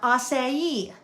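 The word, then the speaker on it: açaí: It's f even though it's pronounced pho. Um, acai.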